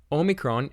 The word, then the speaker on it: omicron: like our letter A Omicron is our next letter it's pronounced like o in all the systems except in irassman or it is pronounced all next we have Yatta